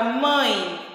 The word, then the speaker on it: mãe: o som da vogal, né, no O ou A é nasal, ou seja, será emitido parte pelo nariz e parte pela boca. Por exemplo, coloca a mãozinha aqui no teu nariz e pronuncia a palavra mãe. Você vai perceber que o nosso nariz ele vai vibrar. Mãe. Porque o som, uma parte desse som, ele sai pelo nariz e pela boca.